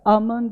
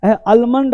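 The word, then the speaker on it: almond: देखो क्या लिखा, आमंड ऑयल, आमंड ऑयल, आलमंड ऑयल। तो आलमंड ऑयल थोड़ा बचना है, अपने आप को स्मार्ट बनाना है, तो आमंड ऑयल ही बोलने का प्रयास करना है। लेकिन मॉडर्न में लोग आलमंड भी बोल रहे हैं मेरे भाई।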